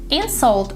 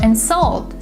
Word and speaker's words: insult: on the first syllable if the word is a verb the stress is on the second syllable in salt and salt